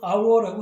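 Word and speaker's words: hour: 예를 들면 이런 것도 그냥 our라고 하죠. 이렇게 H가 처음 단어의 첫 글자로 쓰일 때 가끔씩은 이렇게 묵음으로 나타나는 현상이 있으니까 그걸 조심하셔야 되고 무엇보다도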